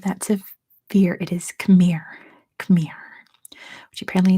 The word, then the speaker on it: Khmer: to fear it is Khmer come here which apparently it's pronounced um but Khmer is how we say it in English why so many letters